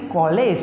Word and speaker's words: college: जैसे अब देखिए CABLE cable, CABLE cable, CAT कैट, CAT कैट, COLLEGE सॉलेज नहीं कॉलेज, क्या पढ़ेंगे इसको?